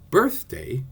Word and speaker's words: birthday: The word birthday has two syllables, but it isn't an iam because the accent is on the first rather than the second syllable.